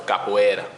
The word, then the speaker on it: capoeira: you spell that capoeira c-a-p-o-e-i-r-a c-o-p-o-e-i-r-a exactly yes um it's pronounced with a portuguese accent so capoeira capoeira okay what's your